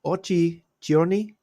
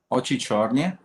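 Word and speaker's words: Очи чёрные: Called Ochi Giorni, is it right pronounced? Ochi Chorny.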